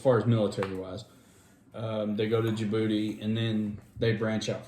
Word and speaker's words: Djibouti: It's like DJIBOUTI.